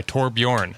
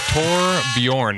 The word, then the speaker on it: Torbjørn: It's episode 274 and we are joined by Tor by Tor Bjorn. I must put the wrong O in the wrong place. Mr. Tor Bjorn.